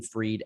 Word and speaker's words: Fried: But you can follow, we're all over the place, but I'm Freed everywhere, and typically only Freed everywhere. So my last name is spelled Fried.